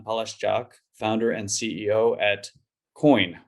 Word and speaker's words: CO2IN: I'm the community manager at Tatum, and I'm joined here today by Jan Palascak, founder and CEO at COIN, which is actually written CO2IN, but pronounced COIN.